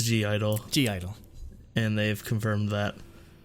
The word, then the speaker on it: (G)I-DLE: confirmed the pronunciation was G-Idle. They said G-Idle. Yes, they did. They said the G. Yes. So screw off all you idol people. Yeah, take it's that, not people. Silent. Yeah, it's not silent.